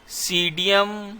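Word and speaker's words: Psidium: हैं क्या है क्वेश्चन सीडीएम गुवा जवा क्या है सीडीएम पी साइलेंट है सीडीएम गवावा इज द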